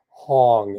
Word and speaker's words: Hong: create the vibration of the sound of the syllable Hong, H-O-N-G.